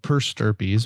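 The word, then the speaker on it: per stirpes: So there's actually a funky little thing called purse sturpies, which I always think sounds like a disease. It's a funny name, yeah. Yeah, and it looks like stripes, but it's sturpies. It's spelled slightly different.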